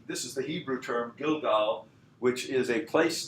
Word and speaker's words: Gilgal: So that's Gilgal in the Bible, which is the Hebrew pronunciation basically of Gilgal.